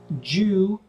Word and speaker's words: due: pronunciation uh fact here Jew d-u-e du in UK English will be pronounced like a j like my name is and a d u will be pronounced like J inchenko Jew for medical if you go to the United States it changes it depends they might say you zinchenko do you pronouncing more uh the d u um but yeah